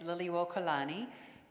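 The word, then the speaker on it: Liliʻuokalani: the kids a chance to um try to pronounce the Queen's name it's Lily wani and here you see the Palace of the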